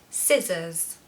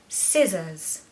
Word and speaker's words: scissors: just going to say you're going to pronounce the first part louder so stress the first syllable scissors scissors so there's a schwa